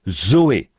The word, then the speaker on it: Zoé: Et en vrai, pour dire la vie de Dieu ou la vie éternelle, on se sert du même mot que l'on prononce Zoé.